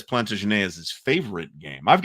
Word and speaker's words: Plantagenet: I've gotten major pushback, by the way, for pronouncing it Plantagenet instead of Plantagenet, like one might pronounce it if one were hypothetically from Ohio. They were French. They spoke French.